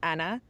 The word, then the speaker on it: Anna: It's not Anna, it's not Anna, it's not American, it's Anna, and so for me it felt like a different pronunciation.